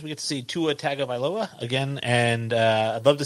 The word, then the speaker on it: Tagovailoa: Tagovailoa, for one, not Tag. I know it's T-A, but it's pronounced Tagovailoa.